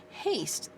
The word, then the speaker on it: haste: gotta bring this out haste okay that's a long a word with a silent e play is an A